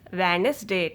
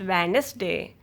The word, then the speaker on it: Wednesday: You don't pronounce D. D will be silent. You pronounce this word is Wednesday. The correct pronunciation of this word is Wednesday.